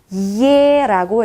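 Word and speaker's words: е: 러시아에서는 예라고 읽어주시면 됩니다. 예. 이중 모음이죠. E 플러스 에, 예라고 해주시면 됩니다.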